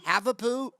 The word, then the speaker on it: Havapoo: She is the proud owner, mom to Heidi, a 4.5-pound Havapoo. Is that how you say it, Havapoo?